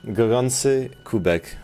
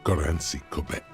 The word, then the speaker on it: Gorący kubek: Okay, that pronunciation is terrible. He's saying words in Polish. Gorący kubek, which means a hot cup.